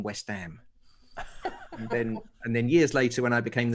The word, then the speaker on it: West Ham: So when we moved to East London, she made sure that I was the only kid on our street that pronounced the H in West Ham.